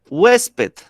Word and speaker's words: huésped: Ahora, huésped. ¿Cuántas sílabas tiene huésped? Dos. Dos. Huésped. ¿Listo? Recae el acento en la penúltima sílaba que es west, y como termina en D y es grave, se tilda.